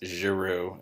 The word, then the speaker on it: Giroux: This, Makarenko and the Soviets, Sung in North Korea, Gutman, and Dewey and Giroux, that's Giroux in case of folks are wondering how to pronounce that, can all be found in the spring text.